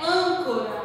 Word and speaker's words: âncora: A outra palavra é âncora, ó. Âncora. Vamos colocar o acento, ó, acento circunflexo. Qual é a sílaba mais forte? O an.